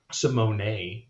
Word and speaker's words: Simone: boy simone uh he or simone excuse me simone is how you pronounce it um he has been on power